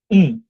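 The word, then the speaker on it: ん: যখন আমরা করব, তখন এটার উচ্চারণটা হবে জাস্ট উম, অর্থাৎ মুখ বন্ধ করে আমরা বলবো। হ্যাঁ, কিন্তু এটা যখন সামনে একটা অক্ষর আসবে তখন এটার উচ্চারণটা বাংলার নয়ের মতো হবে।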